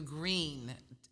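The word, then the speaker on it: Gruene: where did we go we went to Green which is out right outside Austin Texas it's spelled g r u e n e did I spell it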